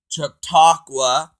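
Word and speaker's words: Chautauqua: THANK YOU to camp took took took let me say it right camp chatauqua I want to give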